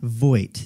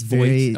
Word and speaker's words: Vogt: How do you say your last name? Vogt. It's Vogt, okay.